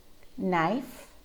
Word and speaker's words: knife: to get started but there are several common english words that have silent k and notice that it's always it always happens before an n try these ones out with me knife not knowledge neck knuckle